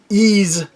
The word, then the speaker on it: Ys: 45 different things, and I've heard it pronounced so many different ways, and it's funny because it's a game that has Y and S in the title. That's it. That's literally it. But it's Ease.